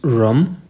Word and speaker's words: HRUM: direct to the point this is rum okay rum I think this H is silent rum and if you don't